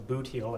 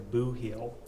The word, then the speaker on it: Boot Heel: Chapman spent the 1960s in southeast Missouri, in a part of the state called the Boot Heel, or as locals say, the Boo Heel.